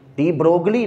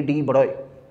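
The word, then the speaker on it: de Broglie: ये जी नहीं पढ़ते, इसको जी साइलेंट होता है, डी ब्रोगली नहीं है ये, डी ब्रोए, जी और एल दोनों नहीं पढ़ते, दोनों साइलेंट होते हैं।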